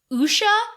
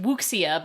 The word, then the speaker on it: Wuxia: a series of Wuxia, which is spelled like it should be pronounced Wuxia, but that's just because I'm coming at it from an Americentric point of view. Thanks to good buddy Trey for telling me how to pronounce it correctly.